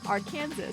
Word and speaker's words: Arkansas: Arkansas is Arkansas. Exactly. That's the correct pronunciation.